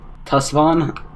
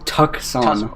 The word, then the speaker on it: Tucson: Tusvon? Tusvon. It's Tucson. Tucson. That's how you spell it. Tucson, Tucson. I know, Tucson. No, you messed up the C and the S.